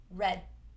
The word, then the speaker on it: red: And note the stop D. We don't go red or red, just red. The tongue stops.